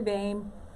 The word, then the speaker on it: Boehme: That's me, Boehme. Used to say old lady, name, same, and Boehme. That's me. But it's spelled a little differently.